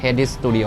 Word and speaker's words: Head Studio: อ่าน ว่า อะไร นะ ไม่ ได้ อ่าน ว่า hest ใช่ มั้ย ถาม มา แล้ว เ บอก อ่าน ว่า Head Studio นะ ฮะ เข้า มา ที